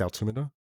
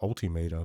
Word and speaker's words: altimeter: I think it's altimeter. I think some people pronounce it altimeter, but that just sounds stupid in my opinion.